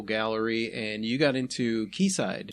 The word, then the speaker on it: Quayside: Quayside, or as I like to call them, Quayside. That's how it's spelled. That's how I'm going to call them. I know they don't like it, but... It's an old world spelling.